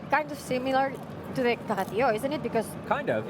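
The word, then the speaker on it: Caga tió: It's not Cagatío, because cara means... it's Cagatío with a G.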